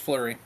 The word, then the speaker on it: Fleury: Yep, it's just Fleury.